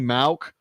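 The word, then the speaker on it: Mauch: ask me but uh Cody mauck is how you say it because I keep hearing everybody talk about it the old the old manager of the angels and the Phillies was Gene Mock spelled the same way but he says malc so we're gonna go with it no teeth long red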